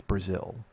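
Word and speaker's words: Brazeal: Tracy Brazil uh and I think it's Brazil uh because it's spelled b-r-a z-e-a-l so it sounds like it should be Brazil which I guess is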